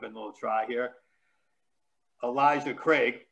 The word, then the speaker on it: Craig: little try here elijah craig which i always pronounce crag because i don't know